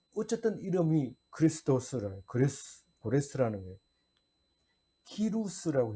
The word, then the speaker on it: 키루스: 키루스라고 해요. 그 발음 그대로 그 나라 역사적인 발음으로 하면 키루스 2세예요.